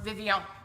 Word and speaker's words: Vivienne: Or Vivienne, if you're feeling French. I'm not really feeling French right now, so I'm just gonna say it like us Americans say it. Vivienne.